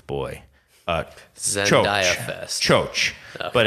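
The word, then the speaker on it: Txotx: called o boy uh Cho but it's spelled TX o TX oh cool but he says pronounced Cho um sure uh turns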